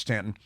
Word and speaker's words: Staunton: And Stanton River High School, I should point out that Stanton, Virginia, is spelled Staunton, Staunton, but it is pronounced Stanton.